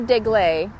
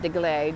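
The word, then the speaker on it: Deglet: they're sweeter than a dig lei or dig let depending on how you pronounce it I pronounce it dig ley de GL Ichi I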